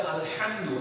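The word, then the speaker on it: الحمد: কেননা ওখানে আলহামদু লেখা আছে, আলহামদু হ দিয়ে লেখা আছে, কিন্তু আরবিতে তো ওখানে আলহামদু হবে না, এটা হবে আলহামদু হ্যাঁ।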